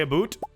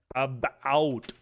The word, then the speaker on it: about: As a Canadian, we don't say a boot. Fossilized apple. Okay, that's definitely a new collectible. We say about.